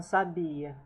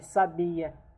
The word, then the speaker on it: habille: starts with H, but H here it's silent. So that's why we take in consideration the second letter. Okay. Tu t'habilles, il s'habille, nous nous habillons.